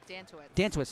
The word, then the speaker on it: Dantowitz: Dantowitz, thank you. You're welcome. I'm very paranoid about pronouncing the names now.